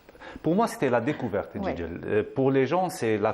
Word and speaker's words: Jijel: Et aujourd'hui, on va à Jijel. Bon, les Jijiliens la prononcent Jijel. Jijel, c'est très important de dire Jijel.